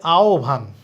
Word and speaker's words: আহ্বান: তাহলে আবার খেয়াল করি, হ ব যুক্ত বর্ণ থাকলে ব এর উচ্চারণ সব সময় ভ হবে, আর হ কখন ও হইতে পারে, হ কখন উ হইতে পারে। হ ও হবে যদি ঠিক তার আগে অ কিংবা আ থাকে, আর হ উ হয়ে যাবে যদি তার আগে ই কিংবা উ থাকে।